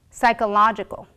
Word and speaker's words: psychological: but is sometimes silent we don't pronounce when it begins a word and is followed by the letter s for example psychology pseudonym psychological the is also silent at